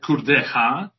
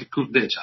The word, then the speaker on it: Kurdecha: about my surname it's in the Polish it's like khuda ha in the in the English it's like a cool data so if you are